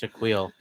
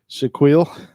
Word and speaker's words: Shaquille: Yeah, It's pronounced Shaquille. Shaquille.